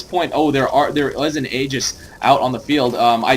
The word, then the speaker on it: Aegis: So I'm gonna be saying Aegis from now on, like the word age and then with an S at the end.